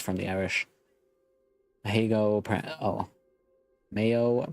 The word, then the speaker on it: Mayo: the Irish heo oh Mayo pronunciation much like the condiment right pran prohan is